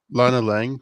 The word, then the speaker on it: Lana Lang: that got brought back uh L Lang again Lana Lang right that's how you say it Lana Lang